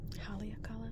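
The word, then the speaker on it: Haleakalā: I know how to pronounce this. Haleakala? I think it's Haleakala.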